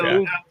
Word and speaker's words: Moog: It's pronounced O. Oh, it's Moog.